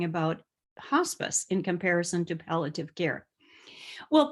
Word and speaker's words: palliative: And then I'll end my conversation today talking about hospice in comparison to palliative care. Well, palliative care, I've heard people say palliative care, but actually nationally it's pronounced palliative, palliative.